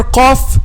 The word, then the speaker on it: ق: touches what it touches the cough is pronounced by making the back of the tongue touches the soft belly and i'll calf from